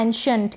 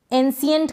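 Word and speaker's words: ancient: इस तरीके से फिर यह है एंशिएंट। क्या है? एंशिएंट। इसको एंशिएंट पढ़ें या फिर एंशिएंट। इस तरीके से इनके उच्चारण मैंने दे रखे हैं तो आपको कंफ्यूजन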